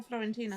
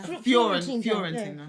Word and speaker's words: Fiorentina: Fiorentina or Florentina? Fiorentina.